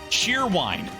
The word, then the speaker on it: Cheerwine: spelling then c-h-e-r-c-h-e-e-r-w-i-n-e it is spelled as it sounds Cheerwine and it is actually